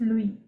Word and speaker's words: Louis: if they're not uh pronounce it luis okay it's louis so i'll read the